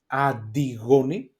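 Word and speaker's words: Αντιγόνη: Then we have the ni taf together, ni ti. Okay, that is like D sound, like dad, maybe in English. And we have, I put two examples like disco, okay, and antigoni, adigoni. So this is a D sound, okay.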